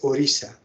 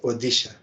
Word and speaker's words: Odisha: the audition odisha but it should be pronounced as orisa not odisha orisha this array is